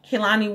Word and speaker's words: Kehlani: easy and kailani called good life and that's Kalani what the H mic name is spelled kei le and I and my name